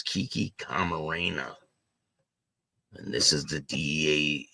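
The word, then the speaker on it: Kiki Camarena: of Kiki k Marena she said the name wrong but it's Kiki Karena and this is the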